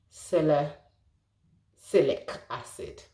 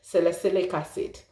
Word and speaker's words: salicylic acid: my time pronouncing uh celestic acid i had to think one minute salicylic acid now salicylic acid is